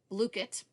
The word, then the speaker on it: Blooket: pronounced. Blooket.